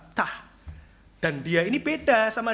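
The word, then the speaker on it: Ptah: Memphfit, yaitu ada dewa namanya, saya gak bisa bacanya saudara ya. Dewa itu namanya tah P t H tah.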